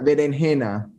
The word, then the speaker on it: berenjena: Berenjena. Yes. Berenjena. So the Jews called them berenjena because they kept the old accent before it changed to ch.